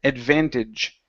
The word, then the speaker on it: advantage: Advantage. Advantage. Okay, good. One more time. So this is going to be adva. Instead of adve, adva.